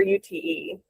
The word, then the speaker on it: Ute: for the Crest, and forgive me if I mispronounce this, is it Ute 100 or UTE?